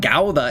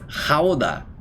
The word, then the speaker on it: Gouda: And the Dutch say Oh, it's not gauda. It's Howa. Howa.